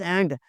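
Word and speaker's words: ant: एंट जी, आंट बोल रहे होते हैं, चूंटी को हम आंट बोल रहे होते हैं, इट्स एंट।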